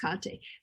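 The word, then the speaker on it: Kathe: her first name is k-a-t-h-e um but it's pronounced kante but i did the word voice with her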